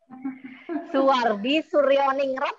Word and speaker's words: Soewardi Soerjaningrat: Raden Mas soewardi soerjaningrat Suwardi Suryaningrat ya bacanya Ya karena itu berasal dari ejaan lama tapi betina adalah Raden